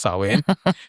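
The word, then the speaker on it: Samhain: It was their festival of Sawin which is spelled Sam Hen, spelled like Sam Hen but pronounced Sawin.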